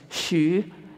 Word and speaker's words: Hsu: was h s so my dad's name was Shu and his name is Hsu and my mom's name is k-i-a-h-s-u-a-n-g it's pronounced joshuan but it's different if now it